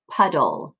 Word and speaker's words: puddle: It's split apart, closed syllable, pud, dull, puddle, right? So this doesn't say dle, it says dull.